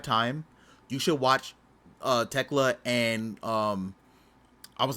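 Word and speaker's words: Thekla: Oh, take out the H. Techla.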